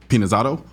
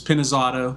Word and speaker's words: Pinizzotto: story of my life you actually were pretty close it's penis Auto but I've gotten it